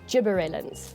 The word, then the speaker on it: gibberellin: because that's what bigi likes to do we pronounce it gibberellin look carefully at the spelling okay um the